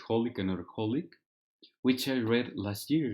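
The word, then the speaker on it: xxxHOLiC Another HOLiC: And then the Ex-Holic Another Holic, I think the X's aren't pronounced, which is Holic Another Holic, which I read last year.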